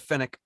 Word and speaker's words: Fenwick: Jasor says the Fenwick, the department store company is pronounced Fenwick. So we'll just say Fenwick.